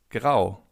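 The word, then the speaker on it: grau: Gray in German means grow. Grow. As you can see in German, if you have the letter A followed by a U, you have an, so it's pronounced as, as in grow.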